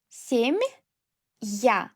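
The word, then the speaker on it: семья: And after soft sign, we will read it as two sounds. Sem-ya.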